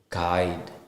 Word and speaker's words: guide: when it's u the letter U is not pronounced when it comes after the letter G and before a wall in a word for example it's guide gu d g guide